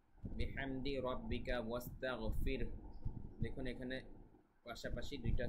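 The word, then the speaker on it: بِحَمْدِ: এর উচ্চারণটা ঠিক থাকবে বিহামদি এখানে হা এর উচ্চারণ খেয়াল রাখতে হবে বিহামদি রব্বিকাস্তাগফির দেখুন এখানে পাশাপাশি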